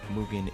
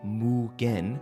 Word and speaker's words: MUGEN: Ronald McDonald is going around just fighting God knows who and just everyone, which is what Mugen is, but we'll get to that in a second.